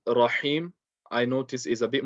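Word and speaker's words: الرحيم: The ha in Rahim, I notice, is a bit more difficult than the ha in Rahman.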